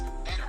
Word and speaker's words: better: So if a letter T falls between two vowel sounds, Vowel sounds.